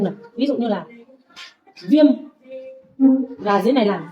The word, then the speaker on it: viêm: Khi mà m ở sau cùng thì chúng ta sẽ đọc là viêm.